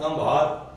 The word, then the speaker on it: کمبھار: یعنی کام کرنے والا، اور کمبھار ہی درست تلفظ ہے۔ بعض لوگ کمہار لکھتے ہیں جو غلط ہے۔ برصغیر کے کچھ علاقوں